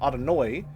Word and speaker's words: Adonai: I've more commonly heard because of my background, Adonoi, which is the Ashkanazi European pronunciation. Adonai, as you're saying it, is the Sphartic Israeli pronunciation.